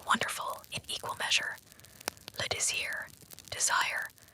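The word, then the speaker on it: désir: Leier, desire. Feel how it burns in the mouth to pronounce it. Desir. The s hisses like a snake, like a secret escaping.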